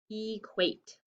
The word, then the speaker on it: equate: what is it guys it's a vowel consonant e ha we always have to check our work vowel consonant e so it's a silent e and it's a long a equate phew okay let's erase